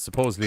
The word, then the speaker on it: supposedly: Hit the fucking like and subscribe button, ring the bell, because supposedly it does notify you if we go live. Supposedly. Supposedly. That's from Ireland. And how you pronounce the word. There's no B's in supposedly.